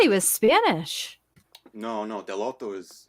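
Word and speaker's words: Dell'Otto: he's the painter and gabrielle delatto i thought it was gelato i've been saying it wrong my whole life i mean yeah the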